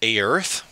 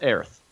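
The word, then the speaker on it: Oerth: It's spelled O E R T H. Yes. So pronounce it however you choose. There are three official pronunciations out there, but I'm gonna go with Aerith.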